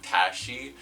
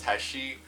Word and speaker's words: Teshi: been mispronouncing teshi's name I've been saying Tashi apparently it's teshi I'm a big idiot so forgive me I'm gonna try remembering going forward that it's teshi today's video is about